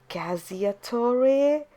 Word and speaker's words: cacciatore: Oh my god, I know what this is, but the problem is that I can't pronounce what's called. It's Cacciatore.